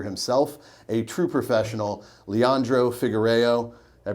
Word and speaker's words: Figuereo: We are real people with passions, including this gentleman here himself, a true professional, Leandro Figuereo. Did I pronounce that okay?